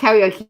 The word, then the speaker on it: karaoke: her to say it someone's put carrie and then okie and she can't say it oh when she's and then she says karaoke she doesn't think it's